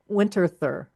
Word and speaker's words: Winterthur: I've seen her paint them on plein air at Winterthur. Is that how you pronounce that?